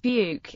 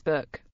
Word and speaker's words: book: As an example of the differences, in the softer South County Durham, where side the English book is pronounced buke, in Geordie it becomes buck, while in the Northumbrian it is buck.